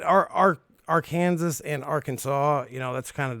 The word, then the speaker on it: Arkansas: ridiculous and dumb so arkansas must be pronounced arkansas yeah yeah yeah i get it y'all don't like it when people are like our kansas or kansas don't worry i mean